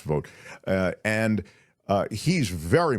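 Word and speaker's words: Vought: control om that's Russell spells it V ght I think it's pronounced vote uh and uh he's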